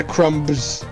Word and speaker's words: Crumbs: i need to know do you pronounce the bee in your name the beast is important yeah crumbs oh crumbs you're well that's great okay awesome so there is no bee there is no